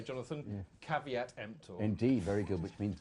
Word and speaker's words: caveat: like other things the lawyers would say jonathan caveat indeed very good which means beware buyer anybody wanting translation empty is the buy and car way actually should be pronounced are we at no time i've never met a lawyer who's